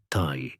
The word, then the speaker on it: ti: For example, a drawing of an arrow, pronounced tai in Sumerian, could also represent the word life, also tai.